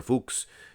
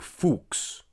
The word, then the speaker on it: Fux: chest of uh jean-pierre fuchs big fuchs you guys sometimes pronounce it the other way the bad way shame on you guys